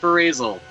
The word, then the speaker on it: Ferazel: break any illusions but it's supposed to be pronounced phrasal so retro actively reaper